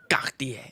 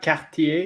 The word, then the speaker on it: Cartier: She doesn't want Cartier, so Cartier. Look at that. Yeah, no, You want to stand out? This She wants to pops. stand out, Nomos. By the way, it's not Cartier, it's Cartier. Cartier.